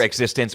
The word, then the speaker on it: eXistenZ: It's It's said both ways. Even in the movie, it's said both ways. Either existence or exist existence because it ends with a Z.